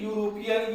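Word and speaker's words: European: से स्टार्ट हुआ है, लेकिन हिंदी में इसका प्रोनाउंसिएशन करेंगे तो ये यूरोपियन य से स्टार्ट होगा, इसलिए इसके पहले हम लोग अ का प्रयोग करेंगे।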